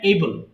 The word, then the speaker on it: able: করতে পারি, আর যদি বলেন আমি করতে পেরেছিলাম তখন হয়ে যাবে আই ওয়াজ এবল টু ডু। আর এটা কিন্তু এই বেল হবে না, উচ্চারণ হবে এবল, এইবল, এবল, এইবল টু